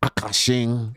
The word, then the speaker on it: Akaash: Akaash Singh and Jasleen's That's how you say his name. Akaash. thing, marriage drama, and all the disrespect that happened within that.